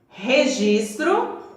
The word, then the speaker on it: registro: As palavras que estão aqui: rapadura, registro e rua. Quando eu pronuncio essas palavras iniciadas com a consoante R, sai aquele barulho assim raspando lá na garganta.